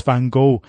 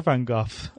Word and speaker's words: Van Gogh: said no they didn't understand they said it's fine go now you give me that your Dutch is a fine go or Van Gogh is in Dutch okay oh you cannot say